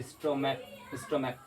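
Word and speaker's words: stomach: जैसे स्टोमैक, तो सी को क्या पढ़े क पढ़े, सी को क्या पढ़े क पढ़े स्टोमैक। इसको क्या प्रोनाउंस करेंगे प्रोनाउंस स्टमक।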